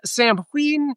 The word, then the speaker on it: Samhain: Uh, first off, Sam Hayne, correctly pronounced Sam Heen.